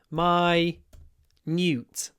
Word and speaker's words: minute: Minute toes, but it's pronounced my- nute.